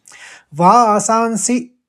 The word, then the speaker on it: वासांसि: वासांसि हस्व पढ़ना है, सी जीर्णानि ये भी